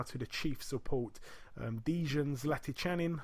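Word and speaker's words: Zlatičanin: We're going to go down now to the chief support, Dejan Zlaticanin. I think that's how you say it, or Zlatikanin. I've heard a few different pronunciations.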